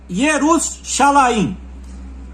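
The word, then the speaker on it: ירושלים: A expressão hebraica do nome Jerusalém é é Jerusalaim.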